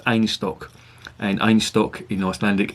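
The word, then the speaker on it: Einstök: well done I just Ange stock they pronounced it's pronounced a nice talk and own stock in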